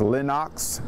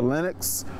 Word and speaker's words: Lenox: Street to the famous Lenox Theater. And mind you, it's not the Lenox. Those who grew up in this neighborhood will correct you. It's the Lenox as they pronounce it.